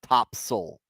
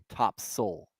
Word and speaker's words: Topsail: there they call it top soul s-a-i-l it's pronounced s-u-l top soul tomato potatoes the L